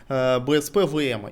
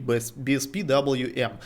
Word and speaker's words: BSPWM: на самом деле конфиг BSP-VM, или, если правильно говорить, BSP-WM, а именно тайлингового менеджера, про который я уже рассказывал в другом своем видосике, но там мы только его установили.